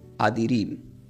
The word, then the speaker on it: Addirim: ¿Por qué adirim? Porque la palabra íntegro del hebreo se pronuncia como adirim.